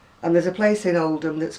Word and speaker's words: Oldham: i've just told you about oldham which when i came from it it was audum and there's a place in oldham that's called well it's